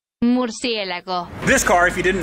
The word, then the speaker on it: Murcielago: And yes, that is the correct way to say it. Murcielago.